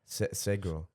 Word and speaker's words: Sgro: How do you say it? Sandholm, right? Or something? No. Sgro. Oh, Sgro. Yeah.